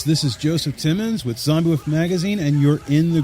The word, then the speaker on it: Xombiewoof: Now, as you know, the magazine's called Xombiewoof, spelled with an X. But everybody keen thinks, zombie with a Z because of the whole Undead craze that's going on.